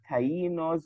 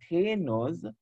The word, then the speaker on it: Taino: But however, their names, their different names were Tainos or Tainos, two pronunciations, and the two pronunciations are correct.